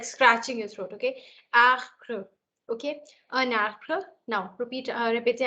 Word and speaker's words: arbre: R is a pronunciation which actually comes slightly from here. Okay. So in French, in English, you pronounce it as R, which comes from the mouth.